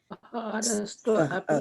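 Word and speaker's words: आहारस्त्वपि: Aharas, how do you say TV? Twa. Aharastva api Okay.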